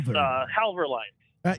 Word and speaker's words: Halvor Line: me about uh about havord lines am I am I pronouncing that right yep halver Hal halver lines you know I you